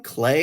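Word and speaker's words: Claes: scrabbling to hold on to what she has, whether it's Ethan Hawke, whether it's Clay Bangs, who plays the Is that how you brother. pronounce his name? Clay?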